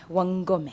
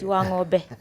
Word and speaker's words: Wangome: I'll begin by introducing myself because a lot of people get my name wrong. My last name, Nancy Wangome. And Wamlambez, Wangome. Yeah. Wangome. Wangome.